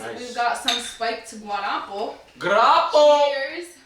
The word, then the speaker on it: guarapo: Guarapo! Cheers. How you say it? Guarapo. Yeah, that's Guarapo. Guarapo.